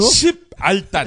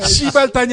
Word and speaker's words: 십알단: 십알단. 아씨 어려워. 시발단이 아니라 십알단.